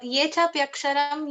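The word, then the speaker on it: ये चाप्यक्षरम्: Ye chapaksharam. Is it ye chapaksharam? It is ye chapyaksharam.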